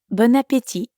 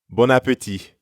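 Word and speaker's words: bon appétit: a good trip and notice that you don't pronounce the T at the end of appetit bon appetit bon appetit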